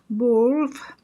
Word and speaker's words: Byrne: He is 59, and his name is Patrick Byrne. That's the way you pronounce Byrne.